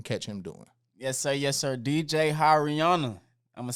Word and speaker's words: DJ HiRihanna: DJ like you waving at somebody. Then Rihanna, like the singer. DJ HiRihanna.